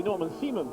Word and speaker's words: Norman Seaman: So the German driver, will be Norman Seaman, will be the correct pronunciation, now has the lead, and Gino Morbidelli will have 2nd place.